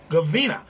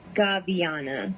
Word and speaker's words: Gaviana: artist singer songwriter miss gavina how are you doing today ma'am um hi um it's actually pronounced gabiana gabianna and i look and